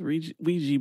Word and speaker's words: Ouija: I don't know where they got the "we" from the "oi."